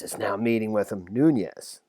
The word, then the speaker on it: Nunes: now meeting with him noon yes it's how you pronounce that um is totally freaky